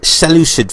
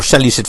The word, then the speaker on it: Seleucid: is Brotherhood member Burke who was bought the Seleucid faction here or sell you said faction depends how you pronounce it I see he's got a silver